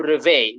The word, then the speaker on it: réveille: Double L become Y and Y is E. Remember the E at the end is silent. So we say, je me réveille.